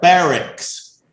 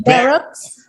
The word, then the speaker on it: barracks: These are barracks. Bear. It sounds like a bear. It's an E pronunciation. ER pronunciation. Barracks.